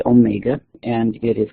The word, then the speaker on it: omega: the symbol lowercase Omega it looks like a w okay but it's pronounced Omega and it is called